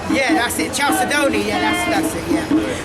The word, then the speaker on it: chalcedony: a challenge sedona from transylvania chaffedonia if i'm pronouncing it correctly yeah that's it chalcedony yeah that's that's it yeah the fourth and